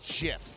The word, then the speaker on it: GIF: So why would you go GIF? Why? Yeah. Because sometimes G can be pronounced like a J. You don't say graphics, giraffics.